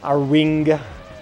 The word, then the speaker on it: Arwing: Arwing. Yeah, you're saying it right. I'm just being a dick. It's pronounced Arwing.